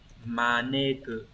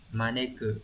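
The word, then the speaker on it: 招く: Cái này có âm cơn sẽ phải đọc là maneku. Đấy, maneku, maneki chứ không phải là mukae này.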